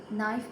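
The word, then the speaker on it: knife: नाइफ में के is silent, listen में टी इज़ साइलेंट, राइट में डब्ल्यू इज़ साइलेंट और हाई में जे इज़ साइलेंट।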